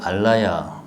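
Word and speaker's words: 아뢰야: 이제 아레야식이라는 이름을 쓸 때는 이게 아레야는 이제 알라야 뭐 그렇게 발음을 하는데 그 뜻이 이제 저장한다는 뜻이니까 그래서 뜻으로 하면은 장식이라고 의역을 할 수 있다.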